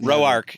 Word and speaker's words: Rourke: Mike Rourke. Rourke. Mhm. Rourke. Am I saying it right? The word. Roark.